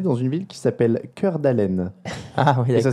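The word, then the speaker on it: Cœur d'Alene: Il est né dans une ville qui s'appelle Cœur d'Allen. Ah oui, et ça s'écrit vraiment cœur comme en français.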